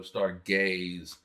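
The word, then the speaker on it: Stargayze: so and uh Mecca it is spelled s-t-a-r-g-a-y-z-e um so star gays um and basically it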